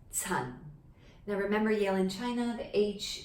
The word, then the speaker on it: Chan: written like this and it is pronounced in cantonese as sun now remember yale in